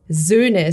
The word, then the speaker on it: Söhne: And then it's Söhne. So it's a Z. It's like a snaky Z. And then it's a U. It's also very much in front of your mouth. Ne.